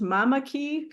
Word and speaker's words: Mamaki: for you okay because I think it's pronounced Mamaki but it's like Mama m m a uhhuh k i a i